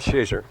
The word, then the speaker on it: Shazer: Oh, it's pronounced Shazer, of course.